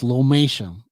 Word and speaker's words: lomatium: u m okay so that's what it is lomation now the full name is lomatium dissectum um